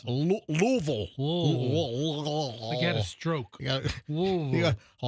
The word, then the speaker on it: Louisville: So, this is in Louisville, Kentucky. Notice how I say it like a local. Yeah. Not Louisville.